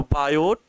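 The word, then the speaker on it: Biot: और बायोसेवर्ट लॉ तो बायोट इनका नाम बायो वी आई ओ टी है टी साइलेंट रहता है बायोट सेवर्ट सेवरर्ट लॉ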